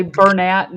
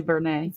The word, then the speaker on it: Bernat: People say Bernat yarn. I said it's really Bernet. Bernet.